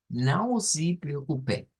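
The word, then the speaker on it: não se preocupe: Luego tenemos un sí, esta E se convierte en I. Now sí. Y luego preocupé, preocupé. Esa sería entonces la palabra para esta semana o la frase. Now sí preocupé, now sí preocupé.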